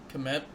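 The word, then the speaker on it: Kmet: met like well like the K is silent commit hmm July uh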